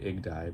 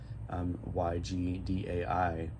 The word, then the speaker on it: YGDAI: how you say it, you could just say it IGDI, but it's Yamaha, it's a Yamaha format option card, YGDAI, and so you see I have a card here that says Y56K on it.